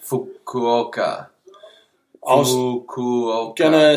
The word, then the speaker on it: Fukuoka: going on there look isn't it called for coca not sure yeah they pronounce it Fukuoka oh cool can I